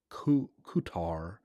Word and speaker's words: Qatar: cutter qatar kater okay a qatar is actually pronounced ku kutar as in welcome back hmm i think maybe